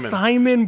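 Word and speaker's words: Psimon: Simon, but with a silent Pis that he likes to do drawings and they come to life.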